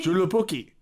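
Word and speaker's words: Joulupukki: I think you pronounced a J in Julupuki. Julupuki or known as the Ule goat in Finland.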